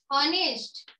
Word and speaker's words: honest: Words आहेत यामध्ये, our, honest आणि ear. म्हणजे उच्चार कशाने झालेला आहे, एच ने झालेला आहे, पण त्याचं उच्चारण कसं होते, वोवेल साऊंड ने त्याची सुरुवात होत आहे.